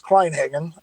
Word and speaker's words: Kleinhagen: got into rc well the last name is kleinhagen uh uh and um let's see i got